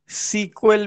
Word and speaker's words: SQL: इसके अलावा हम एसक्यूएल को सीक्वल भी बोलते हैं।